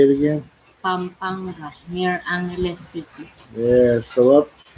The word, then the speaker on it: Pampanga: I'm good at that, especially with that ng in there. I cannot make that sound.